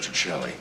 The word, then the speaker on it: Petrocelli: expensive Mr Petrelli it's um it's pronounced that Chelly oh uh Mr Daniels